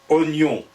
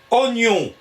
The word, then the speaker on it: oignon: Il écrit « oignon » ou « oignon ». Le second serait préférable puisqu'on ne prononce pas l'i.